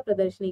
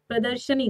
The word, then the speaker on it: प्रदर्शनी: प्रदर्शनी होता है, प्रदर्शनी, प्रदर्शिनी नहीं, प्रदर्शनी। अगर हम प्रदर्शनी कहते हैं तो कौन सा सही हो जाएगा? प्रदर्शनी सही हो जाएगा, प्रदर्शिनी नहीं भाई, प्रदर्शिनी।